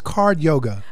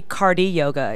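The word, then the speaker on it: Cardyoga: is card yoga uh it's actually cardi yoga it's spelled card yoga but it's a big why so yeah cardiac cardi yoga because it's little cardio and a little bit of yoga all meshed together um I I like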